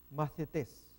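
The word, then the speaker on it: μαθητής: Vamos a ver nueva pronunciación de, ahora en este caso, macetes.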